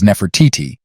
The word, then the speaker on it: Nefertiti: Upper and Lower Egypt despite modern egyptological pronunciation rendering her name as Nefertiti it was originally articulated as the phrase the beautiful one has come and likely contemporaneously pronounced nafda or nafti her name translates to